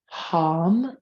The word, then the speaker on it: HAM: And we'll begin here by chanting HAM, pronounced hum. It's a hot breath. It literally comes from the back of your throat.